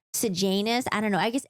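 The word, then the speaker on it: Sejanus: this in my head I kept saying sanis but I know it's pronounced sanus I don't know I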